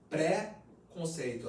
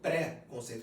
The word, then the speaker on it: preconceito: a palavra preconceito é preconceito a gente pronuncia preconceito na verdade é préconceito por que préconceito porque é um conceito que se tem antes de conhecer a pessoa no caso do autista